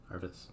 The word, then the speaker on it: Arvis: Pronounce it similar to Harvey. So Arby's. Arby's? Arvis.